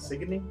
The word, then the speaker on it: Signe: Sydney's twin, right? Signy's twin. Is it Signy?